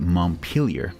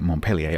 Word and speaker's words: Montpelier: here which is the Montpelier to give it its correct American pronunciation which course is a town in Vermont I confess I've been pronouncing it Montpelier up to now until